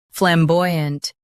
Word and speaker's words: flamboyant: Flamboyant. Stress boy and keep ant soft.